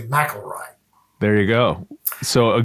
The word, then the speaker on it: McIlroy: Rory's amazing feat and in my head pronouncing his last name Mckelroy and being surprised two years later when he um played in the British Open at at Carnisti that it was actually Mroy.